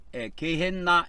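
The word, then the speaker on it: Γέεννα: 그래서 게힌놈 하면은 이 게힌놈을 이제 발음상으로 헬라어로 옮길 때 게헨나 이런 식으로 옮겼습니다.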